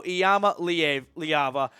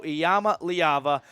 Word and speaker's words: Iamaleava: quarterback from California Nico iyama liaba pronounce that name and practice it because you're going to be hearing it and saying it a lot Nico iyama liaba the five-star quarterback the